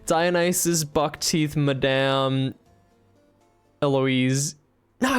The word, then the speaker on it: Eloise: For reference, in French it is said as Eloise. Eloise. Eloise, yeah. In English, it is usually pronounced as Eloise.